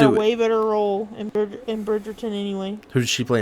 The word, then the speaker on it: Bridgerton: Why are you saying it like that? That's how it's spelled. There's no second R. You say Bridgerton.